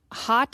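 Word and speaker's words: haute: So here's a little I saw Hot is spelled H A U T E.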